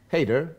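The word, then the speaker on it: Hayder: how did you how did you choose to spell it h a y d e r which makes it very englishy very easy Hater Hater yeah so it's really really easy for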